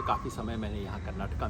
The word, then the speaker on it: कर्नाटक: नहीं है ना, तो कर्नाटका नहीं है, क पे आ की मात्रा नहीं है, लेकिन क को पूरा बोला जाएगा। जैसे हम अशोक बोल देते हैं, मानो क के नीचे हलंत है, अशोक पूरा उच्चारण है, राम है ना। उसी तरह से कर्नाटक, या जब कन्नड़ा के